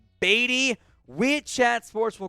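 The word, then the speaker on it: Badie: Tyler, it is pronounced Beatty.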